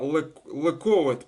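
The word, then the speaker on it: לכּבֿוד: Ковет это честь, а лековет правильно.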